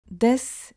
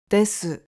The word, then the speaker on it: です: Please note that it sounds more natural to pronounce it as "des" instead of "desu" because the "u" at the end is often dropped.